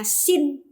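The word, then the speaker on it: שׂ: Nah, Yang di kiri bacanya sin, ya. Yang di kanan bacanya shin, ya.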